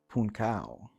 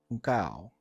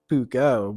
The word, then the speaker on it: Puukko: Or in Finland, it's actually pronounced Puukko. Puukko. But I'm not in Finland. I'm in central Pennsylvania in the middle of nowhere, so I will speak American and call it the Puukko, but I do like both pronunciations, and it's